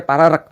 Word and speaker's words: Paregrek: Paregrek itu baca pararek.